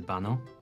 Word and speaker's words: baño: ¿Dónde está el baño? The word baño is pronounced ba-ño with a soft ñ sound like in the English word canyon.